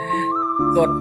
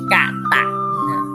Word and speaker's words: กต: กาตุ กาตุ กด แต่ ภาษา บาลี ให้ อ่าน ว่า อะไร ครับ กาตุ กะ กะตะ ถ้า ไก ต เต่า นี่ คือ เอ่อ อักษร ใด ที่ มี ตัว เดียว นะ ครับ ใน ภาษา บาลี ให้ อ่าน เป็น อะ หมด ครับ กตะ อ่าน ว่า กตะ